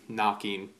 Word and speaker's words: knocking: with a K and knocking starts with an N sound even though there's a silent k there and this idea